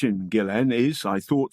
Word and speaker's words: Ghislaine: went on BBC Radio 4S today program and pronounced it Gillan I bet wrong proper names that end in